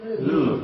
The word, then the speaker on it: Louvre: Louvre, Louvre, just Louvre. Louvre, okay. A bit like a loo brush.